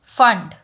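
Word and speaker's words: Pfund: And fifth is फंड. Spelling is P-F-U-N-D. P is silent.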